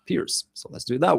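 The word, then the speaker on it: Pirc: Guys told me last time that it's not a perk defense, that it's a Slovenian last name that should be pronounced Pierce.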